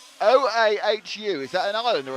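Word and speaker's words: Oahu: It's O a HU.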